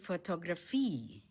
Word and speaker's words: Fotografie: photography in German Die Fotografie Stress is on the last syllable.